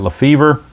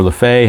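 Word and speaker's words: Lefebvre: They got Lefevre, or Lefay, however you want to pronounce it, and Dave Edwards.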